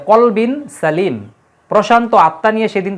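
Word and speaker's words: قلب: ব্যবহার করা হয়েছে কিন্তু কেউ যদি কলবুন না বলে কালবুন বলে তাহলে কিন্তু অর্থ চেঞ্জ হয়ে যাবে কলবুন মানে আত্মা আর কালবুন মানে কুকুর অর্থাৎ সিমিলার প্রোনাউন্সিয়েশন যেগুলা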